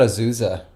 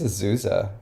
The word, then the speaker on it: Azusa: I've heard Asusa, like where the Z is pronounced like an S, but well, the S is pronounced like a Z.